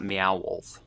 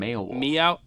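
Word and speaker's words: Meow Wolf: I imagine he meant Beowulf, not Mayowolf.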